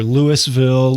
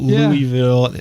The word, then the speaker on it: Louisville: I'm thinking yes yeah you hear Lewisville Louisville it's it's Louisville it's Louisville kind of just yeah just kind of rolls right off your tongue and if you don't